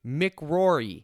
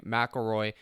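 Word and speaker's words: McIlroy: guy today and then Rory mcrory okay I know that's not how you say his name McElroy but I want to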